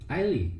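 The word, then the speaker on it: Aili: Ailey. There you go. I Ailey.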